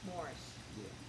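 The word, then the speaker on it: Moorish: talk about um I know I'm going to mispronounce it is it moris morish morish yeah m o m o o r i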